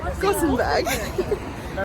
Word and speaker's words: Gothenburg: Is it Gothenburg or Gothenburg? Gothenburg.